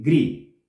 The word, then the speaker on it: kri: aclarar esto de que el morfema en sí es cree pero la pronunciación puede ser también con G, es decir, gri.